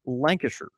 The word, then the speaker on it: Lancashire: style Yorkshire it's same it's the same with Lancashire it's pronounced Lancashire and the Queen she